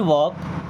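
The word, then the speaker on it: walk: सो I can't वॉक। I means होता है मैं। कांट कांट मींस नहीं कर सकता। क्या नहीं कर सकता? वॉक। यहां पे एल साइलेंट है ना?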